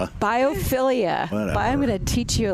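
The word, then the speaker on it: biophilia: Yeah, your bifold whatever Ilia biopilia I'm going to teach you a lesson about that so you can use it in your plant store.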